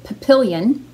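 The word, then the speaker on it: Papillion: There is a town near me here in Nebraska that's called pronounced Papillon, and it's spelled like Papillon, but with an I-O-N at the end instead of just O-N at the end.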